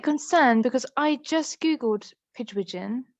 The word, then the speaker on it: Pigwidgeon: I'm a bit concerned because I just Googled Pidgewigeon. Is that how you say it? Pigwidgeon, Um, yeah.